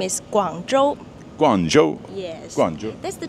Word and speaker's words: Guangzhou: So the city name is Guangzhou.